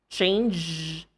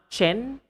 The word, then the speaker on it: change: Change, not chen.